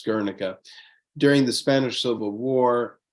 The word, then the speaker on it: Guernica: Guernica is the Basque pronunciation and spelling. Otherwise, in Spanish, it's called Guernica, and that's what the rest of the world knows it as Guernica.